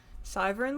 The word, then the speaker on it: Syvern: Syvern like wyvern and CN like the letters.